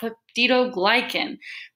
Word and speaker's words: peptidoglycan: that are composed of peptidoglycan it sounds like pet the dog I can but pronounced pedido glycan fungi said spelled like